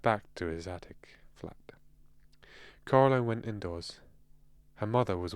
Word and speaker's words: Coraline: They got your name wrong. You know, they kept saying Coraline. Not Caroline. Not Caroline at all.